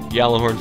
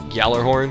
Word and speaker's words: Gjallarhorn: I feel like you're supposed to say, like, Gjallarhorn, because there's a JF, it's like GJ, and it's a Nordic word.